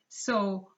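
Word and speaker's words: cent: last one is and the pronunciation is so not sent even though it is spelled like sent in english but it's so so these are the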